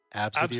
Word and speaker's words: ABCDE: The one person who named their kid ABCDE, but it was pronounced like Absidy or Absidy. something?